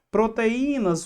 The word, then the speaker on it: proteínas: Proteínas. O I tá na segunda posição e forma a sílaba mais forte, proteínas.